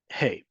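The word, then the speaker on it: הא: Hey. Hey pronounced like the American English hey, not the American English hey, the American English letter H.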